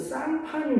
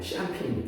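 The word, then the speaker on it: Champagne: 샴페인이 원래 자, 프랑스 상파뉴 지방의 이름을 딴 술이에요. 알겠죠? 그래서 이게 상파뉴를 영어식으로 발음을 하면 샴페인이 되는 거야.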